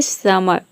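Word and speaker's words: summer: फिर अ प्रोनाउंस करें यहां पे आ नहीं होगा ये होगा अ समर समर समर pronounce करें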